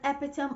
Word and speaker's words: epitome: Most people mispronounce this word. They say epitome, epitome of generosity, epitome of kindness, epitome of beauty. No, the word is not epitome. The correct pronunciation is epitome.